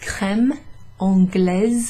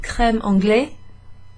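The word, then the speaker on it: crème anglaise: francaise okay when you hear um for example creme on glaze and there's that z sound at the end it's not creme anglais because it's la creme okay so cremon glaze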